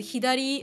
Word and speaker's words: 左: I mean that that kanji is actually normally pronounced as a hidari uh hidari ude means like left arm so